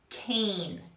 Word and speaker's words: cane: So for instance, here's my word can, but if I put that silent E at the end, I made the word cane. So this A turned into the A sound, the long A, cane. Here it's can, and here it's cane, cane.